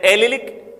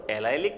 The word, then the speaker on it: allylic: अपन कह देते हैं एलिलिक, इंग्लिश में इसको प्रोनाउंस करते हैं तो अपन एलाइलिक कह देते हैं। मीनिंग दोनों का एक ही है, तो इसकी आपको बिल्कुल भी टेंशन नहीं लेनी है। किसी भी तरीके से आप इसको प्रोनाउंस कर सकते हैं, उससे कोई फर्क नहीं पड़ेगा।